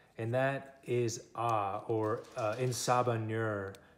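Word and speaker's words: En Sabah Nur: that is ah or in saba nur is how you say it in the x-men language that cipher made that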